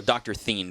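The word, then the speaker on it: DrThene: okay is it written out yeah d-r-t-h-e-n-e so Dr thin basically is how it's pronounced but d-r-t-h-e-n-e so there we go two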